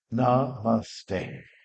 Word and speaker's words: Namaste: It's like, as we know, it's like a three-syllable word. Namaste.